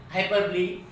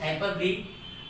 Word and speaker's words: hyperbole: Pronounced as hyperbole, but it can be said hyperbole if you want to remember it.